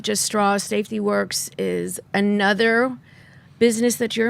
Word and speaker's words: WERCS: So Works is spelled WERCS, and Works is a worldwide organization which rates chemicals from healthy to toxic.